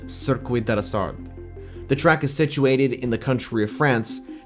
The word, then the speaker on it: Circuit de la Sarthe: The event takes place at the Circuit de la Sarthe, and the correct pronunciation for this track is Circuit de la Sarthe.